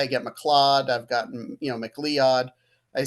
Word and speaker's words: McLeod: It's pronounced McLeod.